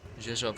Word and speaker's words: Rzeszów: Rzeszów spelled with an R, but there's no R sound in it. Polish, I suppose. Bunch of consonants smushed together somehow.